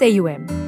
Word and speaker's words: Om: The most basic mantra is the holy vibration identified as Om, pronounced without the help of tongue as Aum.